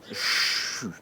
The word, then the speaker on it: Xu: Nous allons travailler sur le son XU, prononcé CHU. Comme si je disais chute très fort à quelqu'un, sans prononcer le T à la fin du CHU.